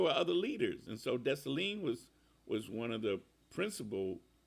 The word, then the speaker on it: Dessalines: couple of representations of Dessalines. Jean-Jacques Dessalines. And it's spelled, of course, in the French way, which is Desssalines, but it's pronounced Dessalines. At least I think I'm getting it pretty close.